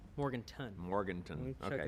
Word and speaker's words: Morganton: Spelled Morganton or Morgantown? Morganton.